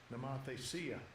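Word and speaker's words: νομοθεσία: Ok, que es nomotesía, que se pronuncia así. Strong's G 3548, Namathesia. Namathesia.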